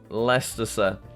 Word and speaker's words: Leicester: The ice is silent. Leicester, Robin Hood's hood, Nottingham.